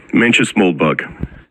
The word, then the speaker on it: Mencius Moldbug: You're going to have to pronounce the first word for me. Menches Moldbug.